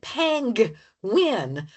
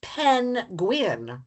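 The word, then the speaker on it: pengwyn: How do you pronounce I say pang win, and I know that's wrong. It's pen gwyn, right?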